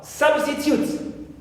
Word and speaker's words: substitute: Also, substitute. Right. As a noun here also, I have in my final syllable, in the last syllable, tute. U, long U. But we don't stress the third one, but the first one, which is sub. Clear? Sub is the first syllable and it is the stressed syllable.